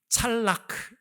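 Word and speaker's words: צלח: 뭐 제가 여러분 말씀드렸죠 히브리말로 찰나크라고 하는 단어입니다 한번 어려운 말이지만 따라해 볼까요 찰나 그 발음하기가 좀 어렵죠 아랍어나 히브리어는 이렇게 목 안에서 하는 바람이 많습니다 찰나크 물론 독일어로도 이런 바람이 있습니다만 그렇죠 찰락 어떤 뜻이냐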